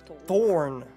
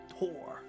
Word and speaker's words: Tor: But I thought it was Thorn, but no, it's Tor.